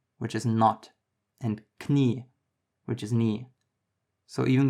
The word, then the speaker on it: Knie: The difference is that in English, the K is silent, but in German it's not. You can see this in words like Knoten, which is knot, and Knie, which is knee.